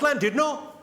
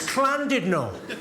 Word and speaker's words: Llandudno: thunder, went, "It's not landed, no. You bloody fool. It's clandid, no. In Wales, the double L is pronounced with a C."